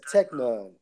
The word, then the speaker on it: teknon: Now, when you go into that term son in the Greek, it's Strong's G 5043, pronounced as teknon.